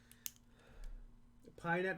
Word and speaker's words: PyNet: PyNet rhymes with Skynet.